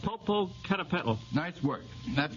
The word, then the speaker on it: Popocatépetl: Yes, but you'll have to pronounce it. Popocatépetl.